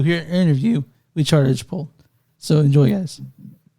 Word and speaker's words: Archibald: Today on Movies Don't Suck and Some Do, we're interviewing Chad Archibald. I said it wrong again, didn't I? All right. You got plenty of chances. Archibald.